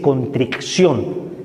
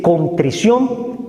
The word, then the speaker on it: contrición: existe la contrición ojo no se dice contricción ni atric aunque parece uno disléxico se dice contrición y atrición la atrición Me convierto